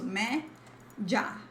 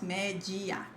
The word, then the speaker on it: média: This is just two syllables. So me, ja, not me, gia.